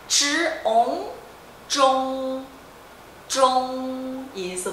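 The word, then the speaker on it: 中: Então é ch, on, zhong, zhong, isso. Primeiro tom, zhong, tá?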